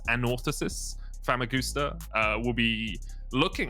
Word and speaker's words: Anorthosis: that name pronounced correctly apparently you put the emphasis on the first o so it's an orthosis famagusta uh we'll be